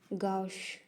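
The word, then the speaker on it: gauche: ना तो इसका मतलब ही होता है एविल पर्सन गश गश इसको गश प्रोनाउंस करते हैं।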